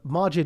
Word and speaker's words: Maajid: imagination both work oh one is uh the majid is the urdu pronunciation and majid is the arabic was the first word